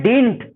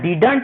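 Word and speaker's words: didn't: रूप ये बनता है, लेकिन इसको पढ़ते हैं डिंट, है ना, डिडंट नहीं पढ़कर इसको डिंट प्रोनाउंस किया जाता है, ये उच्चारण होता है।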